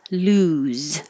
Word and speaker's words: lose: for the arc clearest 35 lose with an u 36 loss with an